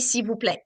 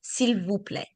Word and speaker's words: s'il vous plaît: So you will see a lot of words that you see the letter, but you don't really hear it. Mhm. Mhm. Like this one. S'il Mhm. vous plaît, it's supposed to be s'il vous plaît.